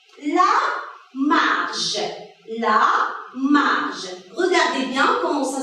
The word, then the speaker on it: marge: La marge. Regardez bien comment ça s'écrit. Le J, elle est suivie de la voyelle E.